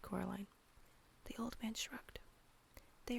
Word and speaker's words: Coraline: to you no said Coraline the old man Shrugged they are funny the mice they get things wrong they got your name wrong you know they kept saying Corine not Caroline not Caroline at all he picked up